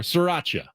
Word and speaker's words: Sriracha: Kind of slur the SR. Sriracha. Sriracha.